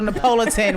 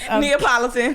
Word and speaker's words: Neapolitan: I want to let you guys know we're definitely a little Napoleon. We're switching to strawberry getting chocolate Neapolitan.